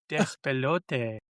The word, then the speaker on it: Despelote: Despelote, and Dispatch. I was gonna say, go ahead, say that. Say that. I did, and I said it right too. Despelote.